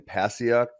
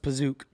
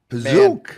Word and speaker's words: Pasiak: It's actually pronounced Pazook. Pazook. I think okay. Ben's right. What a name. I'm going to say Ben's right. I don't ignore the okay. I won't. Because it's like Pazooka, a la Bazooka.